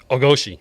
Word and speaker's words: Ogoshi: Ogoshi.